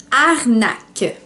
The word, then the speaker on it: arnaque: So, the French word of the day today is arnaque.